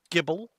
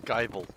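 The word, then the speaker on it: Gible: of pronunciation and communication it still bothers me that Gibble is pronounced Gibble and not gble you're 27 and you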